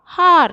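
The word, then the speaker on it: hour: Here, H silent here. We want to pronounce this as R. O sound. Here, O pronounced as the A. We are getting A sound from this. It's a vowel sound.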